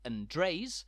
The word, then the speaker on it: Andreas: places around the island from the village of Andres which at first looks like the Spanish Andreas